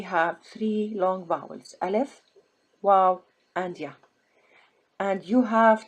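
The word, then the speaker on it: و: Anytime you have long vowel, you have to stop and think, how will I read waw here? Do I read waw as wa or I read it as oo?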